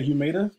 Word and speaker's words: Humata: I tend to say Humata because it rhymes with data, and that's what we're dealing with here in this platform. But you may hear me saying it both ways.